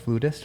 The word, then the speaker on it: flutist: Flutist. How do you say it? Ah, it depends where you're from. In in Britain they would say flirtist. In America they say flutist.